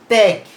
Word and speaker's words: ত্যাগ: আকার থাকলে সেখানেও ওই যে শব্দটি উচ্চারণের মধ্যে একটু শ্বাসাঘাত পড়বে, এখানে বিষয়টি তোমরা লিখে নেবে, শ্বাসাঘাত পড়বে এবং সেটিও একারান্ত উচ্চারিত হয়। যেমন উচ্চারণটা কি? ত্যাগ।